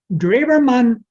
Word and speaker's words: Drewermann: without an e at the end and then draverman is drew d-r-e-w and then e-r-m-a-n-n dreibermann argues that we need to look at the